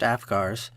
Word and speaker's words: AFCARS: AFCARS, pronounced AFGARS, is the Adoption and Foster Care Analysis and Reporting System.